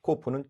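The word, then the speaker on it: קוף: 카프는 흐 발음이고 코프는 크 발음.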